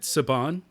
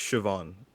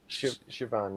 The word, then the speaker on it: Siobhan: Now, I'm not sure if I'm pronouncing her name right, but is it Saban? I think it's Siobhan. Siobhan, yeah.